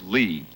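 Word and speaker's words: -ly: a lot of fun this is lee it's spelled l-y and it's very useful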